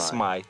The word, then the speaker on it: Смайт: Мистер Смит, Смайт. Произносится как Смайт.